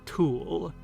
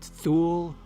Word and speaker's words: Thule: near a mysterious land he called Thule, or maybe pronounced Thule, or Thuli, or Tile. There are many possible pronunciations.